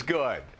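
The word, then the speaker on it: Goode: My name is Good. Good. Oh, it's got an E on the end, so some people pronounce it goody, but it's just good.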